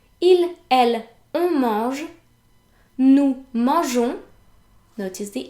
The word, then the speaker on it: mangeons: However, if a G is placed before an E, then it's pronounced j.